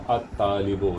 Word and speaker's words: الطالب: और उसके बाद में अत-तालिबो, यहाँ पे अल प्रोनाउंस नहीं हो रहा है, वजह उसकी ये है कि طالب کا جو تا ہے یہ کیا ہے آپ کا شمسی حرف ہے.